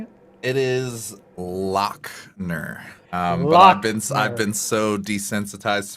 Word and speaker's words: Lachner: lachner is that the right way of pronouncing it it is lockner um i've been so desensitized to that i'm